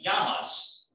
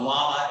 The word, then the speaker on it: llama: unfortunately has left the yamas to give in south america you a yoke get it in spanish you pronounce double l like like y so it's not the llama it's a gamma so